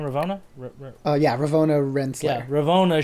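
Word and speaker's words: Ravonna: revo uh how do i say her name ravona oh yeah ravona yeah ravona she just gets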